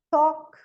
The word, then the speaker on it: talk: O L não é pronunciado em cough, talk, could, should, would.